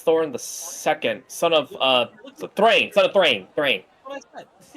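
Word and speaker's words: Thráin: How do you spell that? It's like Thain. Thrain.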